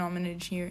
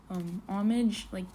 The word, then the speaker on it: homage: Okay, I searched it up and Google Translate's telling me it's homage, like pay an homage to.